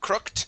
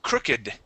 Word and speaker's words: crooked: good um this here instead of crooked it is crooked crooked okay crooked M yeah so here um